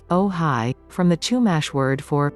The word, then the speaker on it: Ojai: movie lost horizon today ohai pronounced oh hi from the chumash word